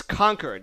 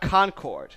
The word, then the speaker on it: Concord: I think they I think in New Hampshire, they pronounced it's conquered, not Concord.